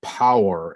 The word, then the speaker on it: Powur: i decided to go with a company called power it's spelled p-o-w-u-r and and it's it has a